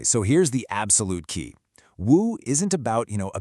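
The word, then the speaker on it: 無: It's pronounced woo, and it's at the heart of all those paradoxical statements.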